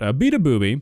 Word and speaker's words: Beabadoobee: But Beabadoobee, okay, that was not a bit.